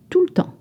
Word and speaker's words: tout le temps: Il raconte des histoires tout le temps. Tout le temps. You notice that the E, the E sound is almost dropped to say tout.